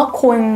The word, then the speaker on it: คุณ: n เพราะ ฉะนั้น น่ะ เวลา ออก เสียง มัน จะ มี เสียง เอ นิด อยู่ ใน คำ ว่า คุณ ตัว นี้ นะ คะ อ่ะ